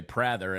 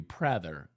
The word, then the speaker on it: Prather: What we were talking about is a lot of people do say Prather, and I don't ever correct them because, I think the way it's spelled with the 2 consonants on both sides of the vowel, it should be Prather. It looks like the word rather, right?